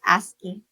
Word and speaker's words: ASCII: ASCII art, that's ASCII, pronounced ASCII.